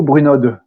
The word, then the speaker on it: Brunod: Et B comme Bruno, Bruno ou Brunod? Alors, c'est un nom des Alpes, c'est Bruno. On ne prononce pas la finale, mais c'est pas grave, c'est comme vous voulez.